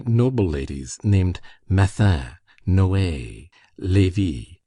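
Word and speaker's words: Lévis: There were in Madame Dati's salon some very noble ladies named Metha Noa Levy, L E V I S, which was pronounced Levy, Kambes, C A M B I S, pronounced Kambes.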